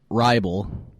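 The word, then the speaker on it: Hribal: So his name is Alex Hriebel, but it has a silent H in front of it.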